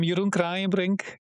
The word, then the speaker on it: Jeroen Kraaijenbrink: I'm Yurun Brink. That's how you pronounce my name.